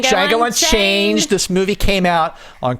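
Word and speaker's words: Django: the D is silent the D is silent Chang this movie came out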